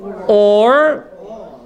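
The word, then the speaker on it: עור: Or, which is spelled ayin resh, right?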